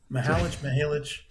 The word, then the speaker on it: Mihalich: So, to talk about Dad's Hat Rye, Mountain Laurel Spirits in Pennsylvania, welcome, Mihalich. Damn, I did it. You're absolutely fine. It's Mihalich.